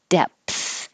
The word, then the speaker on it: depth: sound undoubtedly undoubtedly depth you do have to close your lips and make a pee um to stop the airflow before you open your lips again and let the air flow out with the th depth depth if you don't stop the airflow with a p it will sound like death totally different word depth and then 20